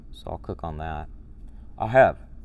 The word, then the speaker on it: אהב: Ahev. And it'll tell you how to pronounce it. Ahab.